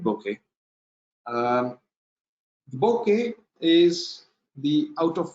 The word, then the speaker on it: bokeh: Our next topic is the bokeh or bokeh, depending on how you pronounce it. I pronounce it, I mostly call it bokeh.